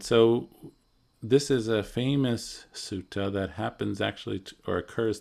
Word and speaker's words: sutta: Yeah, so the dot below the consonant indicates that it's what's called retroflexed. So it's a different vagga or class of consonants, and it's pronounced in a different part of the mouth. So sutta would be right with the tongue behind the front teeth. T, right? Like sort of like a regular American T.